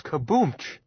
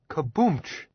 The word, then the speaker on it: Kaboomch: This kaboomch. His name is Kaboom. Sure, Kaboomch. Willis agreed, correcting Jim's pronunciation.